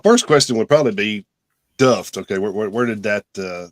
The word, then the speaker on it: Duft: are we are saying that right it is duffed right yeah well we would pronounce it duffed but I don't think really matters that's that's